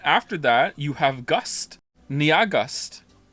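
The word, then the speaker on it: Nyahgust: that you have gust Nia gust it's pronounced like August how are you getting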